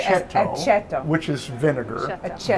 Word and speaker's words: aceto: how do you say Aceto, aceto?